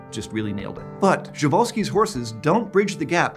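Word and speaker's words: Przewalski's: horse that's still around is an endangered subspecies javalsky's horse also known as the taki or mongolian wild horse and i'm pronouncing it that way because that's how sir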